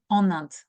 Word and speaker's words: en Inde: The N is more than necessary there. If you're not pronouncing it, I will not, I don't really get it. Okay. Nand, en Inde. By the way, it's not only for the person who is listening to you, it's about yourself as well, meaning it's easier to pronounce Nand than en Inde.